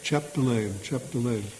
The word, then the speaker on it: Chapdelaine: Well, yeah, just like it's spelled. Do you put the D in there? Chapdelaine? Yeah. Chapdelaine.